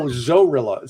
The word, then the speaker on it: Zorilla: No, Zorilla. Spelled like gorilla but with a Z.